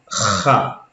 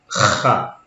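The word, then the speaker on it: خ: Et pour la troisième, Kha. C'est comme si vous allez cracher. Kha.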